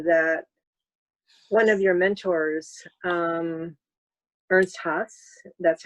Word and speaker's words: Ernst Haas: I thought it was interesting when we were talking before that one of your mentors, Ernst Haas, that's how you pronounce it.